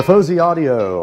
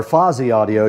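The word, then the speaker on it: Fosi Audio: The Fuzzy Audio or Fozy Audio depending on how you like to pronounce it is sitting right in front of me here.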